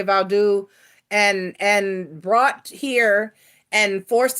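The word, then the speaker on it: Vodou: African witchcraft, which included voodoo, Vaudu, however you want to pronounce it. Haitians say Vaudu, and brought here and forced into slavery and Christianity.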